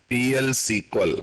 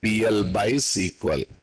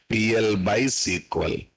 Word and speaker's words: PL/SQL: So that's the ultimate purpose of PL/SQL. Actual pronunciation is PL by SQL.